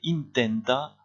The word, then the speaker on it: intenta: Que intenta hacer? Et vous faites attention ici à bien prononcer in, comme en anglais.